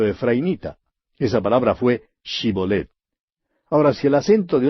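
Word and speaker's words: Shibolet: le decían ahora pues di chibolet y él decía sibolette porque no podía pronunciarlo correctamente Entonces le echaban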